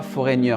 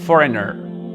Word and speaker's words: foreigner: Donc, on ne dit pas foreigner. J'entends souvent, je dirais genre, he is a foreigner. Non, foreigner. Le GN, il faut l'éliminer. Il ne se prononce pas.